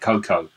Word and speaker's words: cocoa: and after it's been processed they call it cocoa so and how do you spell these two